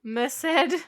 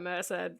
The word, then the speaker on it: Merced: __ ] you look i'm probably 99 percent sure it's pronounced merced or it could be missed but merc just sounds stupid so i'm going with merced okay so we're going